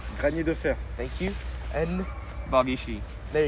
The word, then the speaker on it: Granier Deferre: Granier Deferre.